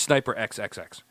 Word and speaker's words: SNYPER XXX: Because if I don't say it like that, people are going to be like SNIPER, and it's not. It's SNY.